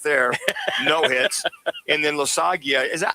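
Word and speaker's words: Loáisiga: And then Losagia, how do you say that? How do you say his last name, Laz? Jonathan Loaizaga. Loaizaga.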